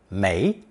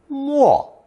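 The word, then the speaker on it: 没: Lesson 12 I introduced the negative character may as in mayo with a second pronunciation Mo meaning to sink submerge or disappear as in true meaning to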